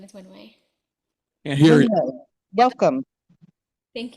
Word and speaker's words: Wenwei: My name is Wenwei.